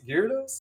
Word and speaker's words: Gyrodos: I am joined by Gyrodos. Gyrodos? How do you want me to pronounce it? Just like the Pokemon Gyarados, so.